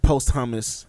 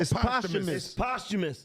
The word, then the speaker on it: posthumous: Is it posthumous or postumous? Which one is it? Postumous.